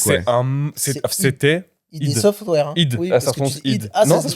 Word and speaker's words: id Software: id. Oui, Ça se prononce id. Ah, non, ça se prononce id. ok. Ça se prononce id. Moi aussi, je pensais que c'était ID ou id Software. C'est id Software.